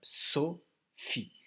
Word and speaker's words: Sophie: Alors, Sophie, déjà, Sophie, à savoir qu'il y a deux syllabes. Sophie. Dans Phi, c'est le F d'éléphant. Et là, on n'oublie pas, on a un E muet.